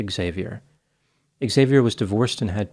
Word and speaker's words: Xavier: Breeland Jr on Tinder this name can be pronounced in two ways Xavier or Xavier in this instance the name is pronounced Xavier Xavier was divorced and had two children a